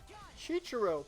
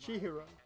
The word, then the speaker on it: Chihiro: Must belong to Chichiro, because we couldn't find his. Chihiro's handbook was missing from the scene of the crime. right? Chihiro, not Chichiro. Said it wrong again.